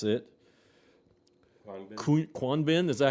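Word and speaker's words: Khruangbin: And then, and I have no idea how to pronounce it, Kwanbin, is that how you pronounce it? Krungbin.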